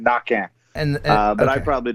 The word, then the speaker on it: Naquin: now i can't not cajun french the q is a k the n is silent at the end knocking and uh but i